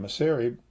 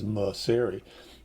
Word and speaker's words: Mauceri: know that those days I pronounce my name maseri this is the way my father pronounced it because once I started conducting in Europe it was too complicated to tell people that m a u c r i was museri um so we we